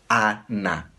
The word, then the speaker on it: Ana: Se diz ana, porque o N está para o último A, tá bom?